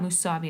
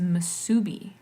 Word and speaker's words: musubi: there's just oh sorry it's not Mousavi it's a musubi it's a spiced ham